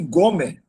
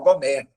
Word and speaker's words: Gomer: Alguns estudiosos entendem que Gommer, pô, velho, esse primeiro acento no O é difícil, é ruim para pronunciar, tinha que ser no final Gomer.